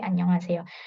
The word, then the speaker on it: 안녕하세요: Tapi kalau Annyeonghaseyo.